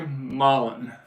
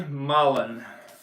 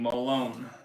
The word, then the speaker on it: Molen: that respect to Joey it rhymes with Holland Joey Molen thanks Gregory you got it Joey malen I was saying Malone uh uh my notes